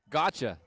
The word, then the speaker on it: Gotcha: Brad, how do you pronounce her name? Gotcha.